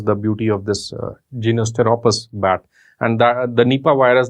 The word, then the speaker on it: Pteropus: is from a genus Pteropus, Pteropus. Please remember that P is silent. Like in PSM, P is not silent. In Pteropus, the P is silent.